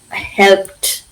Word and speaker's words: helped: Now, helped. Now, we don't say help. I know you've not said it. Helped you. Please, you have to be careful when pronouncing the ends of the words.